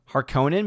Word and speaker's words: Harkonnen: See, now I'm thinking of Harkonnen because I watched Jeremy John's review, and that's how he has always pronounced it. But I know it as Harkonnen because that's how they pronounce it in the audiobook version.